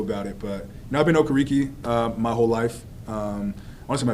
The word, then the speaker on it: Okereke: Yeah, older pronunciation, Okereke. I guess the correct, up-to-date pronunciation that I want to accept now is Okereke.